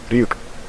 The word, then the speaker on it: Ryuk: iio no I think my final pronunciation of like ryuk was ruk or something or aruk yeah that's also wrong it's ruk so yeah well next